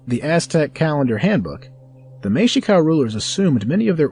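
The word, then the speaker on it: Mexica: use the more appropriate term mexic pronounced Mika the ancestral root language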